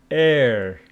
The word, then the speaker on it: air: And this one is air, like her, So ear, air.